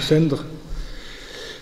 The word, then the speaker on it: sendra: et des personnes euh sa forme romane et sendra bon on prononce pas la voyelle en roman donc Sendre euh et cette forme